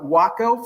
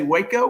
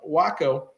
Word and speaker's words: Waco: American glider forces and it is pronounced wacko for the Weaver Aircraft company that made it I live in Texas folks want to say Waco most folks do but it's actually pronounced uh wacko it was a uh